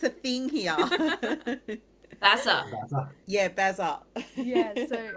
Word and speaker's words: Bas: think we're saying it wrong with our Australian accent, I think. Yeah, very Aussie. Sorry, is it Bas? It's Bas, yeah.